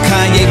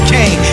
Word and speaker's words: Kanye: Now all I need is y'all to pronounce my name as Kanye, but some of my plastic still say Kane.